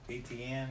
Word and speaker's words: Etienne: I've got Travis Etienne.